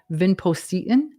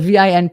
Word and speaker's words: vinpocetine: Another supplement that you may not have heard of is called vinpocetine. It's spelled Vinpocetine for those of you who are listening.